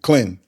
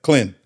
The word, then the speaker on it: Clinton: Now, if I was saying it just like, you know, if I was talking to my people, Clinton, Clinton, one one syllable. Yeah. Clinton.